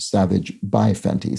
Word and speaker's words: Savage X Fenty: X Fenty which zor95 believes is said uh pronounced Savage by Fenty so the brand is sort of savage by